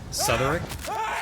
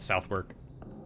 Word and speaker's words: Southwark: Southerick? Souther? Like Southern and Irk? I mean, just because the English have improper pronunciation doesn't mean I should.